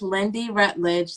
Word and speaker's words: Lyndy Rutledge: craft mid state chapter and i'm here with lindy rutledge did i pronounce that right yes okay creator of firefly